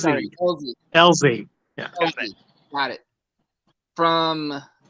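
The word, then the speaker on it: Elsey: Easley. Yeah. Elzy. E-L-S-E-Y. Pronounced like a Z. Sorry, Elzy.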